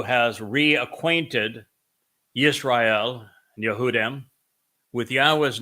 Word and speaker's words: Yahweh: God has but one name and it is pronounced yahwe and I have proven it over and over